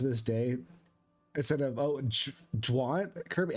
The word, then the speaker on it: Jean: Instead of, oh, Dwan? Kirby, how do you, like Dawn, but with a J? Dwan? I've always seen that kind of pronunciation spelled pronounced Jean, like French.